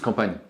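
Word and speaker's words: campagne: okay country side yeah because in French it's compan comp yes I transl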